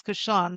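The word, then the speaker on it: cochon de lait: Couchon de lait is the actual festival, right? It's couchon.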